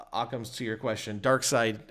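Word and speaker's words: Darkseid: outcomes to your question dark side or dark seed I don't know how to pronounce it is it seed I I say dark side of her dark seed apparently and apparently even though it's clearly written seed apparently is side okay even though it's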